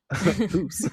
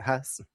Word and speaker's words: Hus: Time to go back and edit all that and put HOOSE so I don't mispronounce the whole episode. So, who's not Hus.